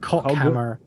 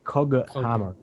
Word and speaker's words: Coghammer: Coghammer with a G, not Cockhammer. Okay, Coghammer. Coghammer. Let's do it with like it's got a U after it. Coghammer. Just so we're sure that we're not saying Cockhammer.